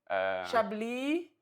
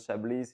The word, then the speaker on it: Chablis: that is the, and it's the same for Chablis, which has an S at the end. It's not Chablis, it's Chablis.